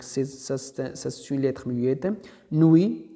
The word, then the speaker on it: nuit: Nuit, donc c'est T.